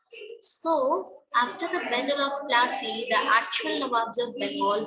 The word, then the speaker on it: Plassey: जैसे battle of पालाशी को दे pronounce it एज Plassey, ठीक है, बैटल ऑफ प्लासे।